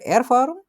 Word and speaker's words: Erfahrung: Was bedeutet Erfahrung?